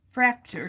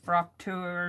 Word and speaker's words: Fraktur: map and add some fracture to it fracture images and i'm probably pronouncing that wrong i think it's got more of an ah sound it's i think it's like frocture or something like that fracture of course um